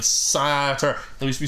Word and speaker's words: satyr: He'll just be saying, right, no, you've been adding an extra syllable. Satyr? I've been saying Satyr, haven't I? Nice night, no. Satyr. It's not an extra syllable, but it's an extra, like, vowel sound, I guess.